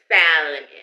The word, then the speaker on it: salmon: Oh, sorry, gotta pronounce the L. Salmon, I love salmon.